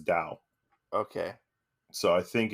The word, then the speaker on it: Tao: So I think it's kind of how in Shintoism you have Tao, Tao, yeah. But you actually pronounce it as Dao.